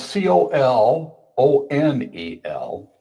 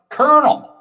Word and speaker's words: colonel: So it's spelled c o l o n e l. It looks like colel or something like that. But it's pronounced colonel. like popcorn kernel.